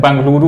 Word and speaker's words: बेंगलुरु: है बेंगलुरु में है कुछ लोग अभी भी बेंगलुरु बेंगलुरु कहते हैं बेंगलुरु उसका सही उच्चारण और इसके अध्यक्ष हैं